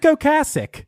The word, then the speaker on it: Ocasek: confusion into a virtue it's actually Rick oasic yes um I've never heard anybody pronounce it uh okasik but uh yeah if you want to go with okasik we can I'm going to go with okasik because that's all I've ever heard it okay Rick is of